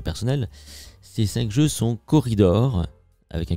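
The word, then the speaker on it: Quoridor: et je commence donc avec corridor donc corridor ça s'écrit Q u O 2 R I 2 I d o r c'est un jeu euh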